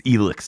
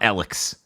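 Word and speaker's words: Elex: it out on me that's how they say it in the game it's elix not Alex ghost wire Tokyo really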